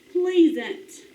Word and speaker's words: pleasant: E, and pleasant. You ever heard that word? All right, let's do the short E, like in thread. Pleasant. Pleasant. Pleasant, like it's a pleasant day. It's a short E sound.